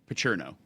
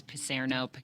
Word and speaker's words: Picerno: How do you pronounce Megan's last name? Pacherno. Okay, got it. I wasn't sure it was Picerno, Picerno. She is, Pacherno.